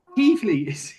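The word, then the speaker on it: Keighley: let's put the Doncaster and then we've got Keely did I say right ke how do you spell it k e i g h l e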